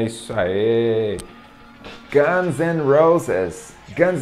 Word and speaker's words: Guns N' Roses: Guns N' Roses. Guns N' Roses. Muitas pessoas pronunciam de forma certa, né, essa banda, mas